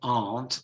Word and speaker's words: aren't: aren't or aren't so when you have this combination are not you pronounce it aunt or aren't okay and then remember